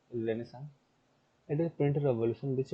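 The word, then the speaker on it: Renaissance: अब रेनेसां rebirth क्यों जरूरी था? फैक्टर क्यों, वो रेनेसांस, रेनेसा सॉरी, ये साइलेंट है कितने एरिया, ये साइलेंट रहता है।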